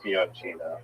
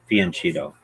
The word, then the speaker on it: fianchetto: Most people say Fianchetto. Okay. Yeah, Fianchetto.